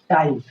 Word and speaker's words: time: और ई का उच्चारण नहीं होता है और ई अपना प्रेशर पहले वाले वाउल को दे देता है कि आप उच्चारण करो, तो पहले वाले वाउल में स्ट्रेस आता है यानी दबाव आता है और इसकी उच्चारण थोड़ी लंबी होती है।